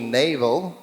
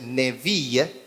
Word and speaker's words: Neville: My one cousin calls me Navel. Saya punya cousin mengatakan nama saya Neville. My name is really French, so the real pronunciation is Neville.